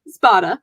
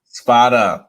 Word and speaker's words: Spada: katie how do you say your last name spada spada went on to complete her dietetic internship through